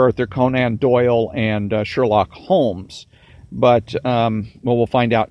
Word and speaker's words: Holmes: name house is since a synonym for home which is how Holmes pronounces his name although with an S at the end the medical initials in houses named doctor and MD are also those of dr.